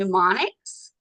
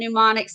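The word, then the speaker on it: mnemonics: Now we can have different uh they're called pneumonics. So the m is silent and these are ways that you help remember it.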